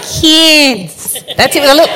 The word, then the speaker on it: Cairns: Cairns. Up in the back of the nose, Mary. Cairns. No S on the end.